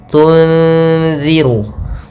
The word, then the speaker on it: تنذر: Cara membacanya adalah kita samarkan suara nunnya kepada zal, tunziru.